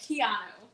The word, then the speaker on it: Quijano: we're joined with a local private chef keanu i said it right right you did you